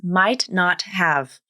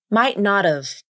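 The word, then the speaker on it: might not've: Then the T in might turns into either an unreleased T or a glottal stop.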